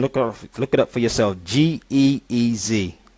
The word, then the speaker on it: Ge'ez: Geez. It's pronounced Ge'ez.